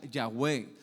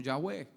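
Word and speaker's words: Yahweh: Dios, que se pronuncia Yahweé o que es el sonido de la respiración.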